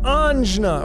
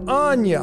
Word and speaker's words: Ajna: Number seven, the Ajna, or Ajna, however you want to pronounce it.